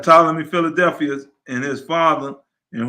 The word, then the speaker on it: Ptolemy: ptolemy philadelphus that's right you said it right ptolemy philadelphia and his father and who dedicated the